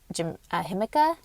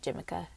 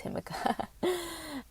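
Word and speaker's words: jicama: peas, even radish, like himika. I was about to call it Jimica. Spelled like Jimica, but it's himika.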